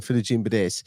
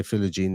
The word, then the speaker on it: Philogene: I don't even remember mentioning Jaden Philigine this on this podcast, but I know I do at times call him Philigine Bades, and he just goes by Philogene now.